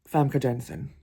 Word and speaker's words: Famke Janssen: Actually, I'm going to change my honourable mention to Famke Janssen.